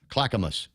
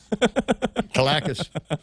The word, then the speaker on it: Clackamas: Oh, Ana Delgado says it's pronounced Clackamas. My bad. Whatever. Calacas. Calicus.